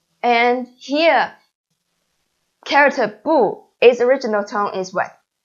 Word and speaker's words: 不: is first help me right and here character poo is original town is wet of course is